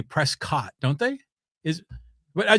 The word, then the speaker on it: Prescott: You know, it's by the way, it's funny when you always say Dak Prescat, like you pronounce it like biscuit, you know, Prescott, but other people usually say Prescott, don't they?